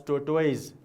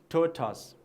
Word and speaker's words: tortoise: pronounce I have seen many of the students pronounce it as tort ways is that the correct pronunciation No so you have to pronounce after me okay the correct pronunciation is tortoise please repeat once again totals very good now